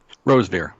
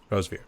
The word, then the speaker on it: Rosevere: Is that how you pronounce it? Rosevere. Yeah. Rosevere.